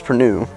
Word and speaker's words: Prude: name which is prude my last name is perue but it's spelled prude so you kind of